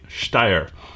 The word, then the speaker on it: Steyr: first time handling a steyr and that's the way it's pronounced in german i lived over there for so long i'm sorry folks i'm going to have to say steyer so if you catch